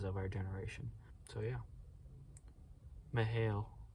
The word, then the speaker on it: Mikhail: our generation so yeah mihail mihail not mikhail lehrman laramonta i get jealous